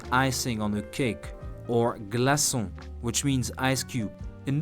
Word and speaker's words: glaçon: on a cake, or glaçon, which means ice cube. In those cases, you see that if we kept the letter C as such, it would be read glaçage or glacon with a K sound.